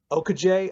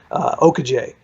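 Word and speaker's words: Okojie: George Mason point guard, Baraka Okaje, I believe is how it's pronounced. I talked to him yesterday, and he helped me out with that. Okaje.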